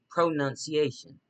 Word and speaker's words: pronunciation: So I was supposed to I pronun like a nun pronun c i a sh pronunciation.